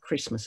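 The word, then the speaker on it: Kiritimati: h-bombs on christmas island kirimati is the way it's spelt christmas is the way it's pronounced however we have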